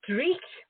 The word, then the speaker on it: Dreich: another Scottish word here, so you'll like my pronunciation. The publisher's name is Dreich, D-R-E-I-C-H.